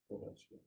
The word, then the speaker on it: Ovechkin: Ovechkin. How do you say it? Ovechkin. Ovechkin. It's not supposed to be an R there.